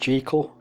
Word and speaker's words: Jekyll: well actually now because this jekyll is meant to be pronounced jekyll g rhyming with sikh it's hide and seek yeah i haven't seen